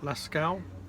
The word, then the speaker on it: Lascaux: Yeah, and we've also included our first trip in the Dordogne, which was up to, how do you pronounce it? Lascaux.